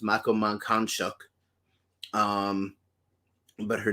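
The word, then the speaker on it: Mankanshoku: so there's people like uh ryoko's friend mako makanchiko and uh that's actually incorrect it's pronounced makaman khan shock um but her name is very difficult to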